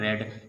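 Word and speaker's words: read: फिर वर्ब की third form, verb क्या है इसमें, पढ़ना, पढ़ने की थर्ड फॉर्म क्या होती है, रेड। स्पेलिंग क्या होती है, सेम, वही रीड वाली स्पेलिंग होती है।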